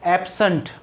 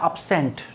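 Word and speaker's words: absent: इसका प्रोनंसिएशन होता है एब्सेंट क्या होता है एब्सेंट और यही जब वर्ब की तरह यूज होता है तो इसका प्रोनंसिएशन होता है अब्सेंट क्या होता है अब्सेंट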